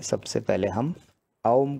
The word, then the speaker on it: ओम: तो अब जो है सबसे पहले हम ओम का उच्चारण करेंगे। ओम शायद आपको पता होगा कि तीन अलग अलग अक्षरों से मिलके बना है, दो स्वर हैं एक व्यंजन है, अ उ और म।